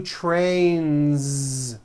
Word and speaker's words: trains: Next word, train, ends with a voiced N. See that? So you've got one train or two trains. Two trains with a voiced Z ending.